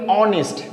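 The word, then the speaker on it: honest: ऑनेस्ट के पहले हमेशा हम ए एन का प्रयोग करते हैं। ए का प्रयोग नहीं करते। क्योंकि इसका जो प्रोनाउंसिएशन है वो स्वर से स्टार्ट हो रहा है।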